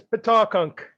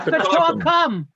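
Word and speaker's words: Pataukunk: Actually, I always heard it It's pronounced Pawtuckum. Pawtuckum. It's Pawtuckum, like the gunks or the Pawtuckum, gums. exactly. Pawtuckunk, okay. It's like straw gums.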